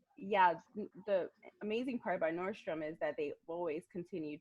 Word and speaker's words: Nordstrom: around oh I like some Milan or or Nordstrom Nostromo Leone so I mispronounced yeah Nordstrom was one of the first